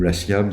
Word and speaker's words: Latium: série Omal, Romain Lacuzeau, la série Latium, ou Latium si on prononce à la latiniste, Thomas Spock.